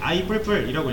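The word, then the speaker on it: i++: 얘는 뿔뿔이라고 읽으면 되는데, i 뿔뿔이라고 읽으면 돼요.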